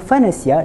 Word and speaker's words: فَنَسِيَ: Faqalu hadza ilahukum wailah Musa fanasiya. Wailahu Musa fanasi. Dua cara bacaan tadi kurang tepat. Jadi cara wakaf yang betul pada kalimah fanasiah yang pertama kita sukunkan huruf ya di akhir kalimah. Fanasi. Fanasi.